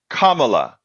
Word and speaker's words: Kamala: of them betterto to say her name correctly make believe it has a o like Kama Kamala and what did I